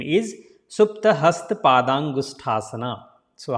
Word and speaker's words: Supta: Don't say Supta. There is one time A, right? So 2 time A is the big sound, ta. But here is one time, so that will be Supta. So say it Supta.